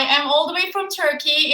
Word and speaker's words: Türkiye: I am all the way from Turkey. It's Türkiye, but pronounced as Turkey.